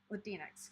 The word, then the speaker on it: Latinx: And I'm glad someone was here that could mention that I was saying Latinx correctly. Latinx? Yeah, that's what I said, I think. I'm usually quite bad at pronunciation, by the way.